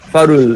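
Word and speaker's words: Fårö: año 2007 en la isla de Faro, o Faró, no sé cómo se pronuncia, en Suecia. Farö, ya, que es como el refugio de Bergman a los 89 años.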